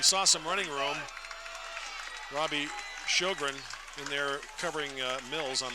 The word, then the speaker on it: Sjogren: Robbie Sjogren in there covering Mills on the punt. That'd be Shoegreen. Shoegreen is the way that's pronounced. There's a long history of Shoegreens in Rifle. S-J-O-G-R-E-N. Yep, okay. Shoegreen.